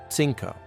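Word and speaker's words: cinco: The letters Z and soft C sound like S in Latin America, but like th in Spain. Five. CO. Sinko.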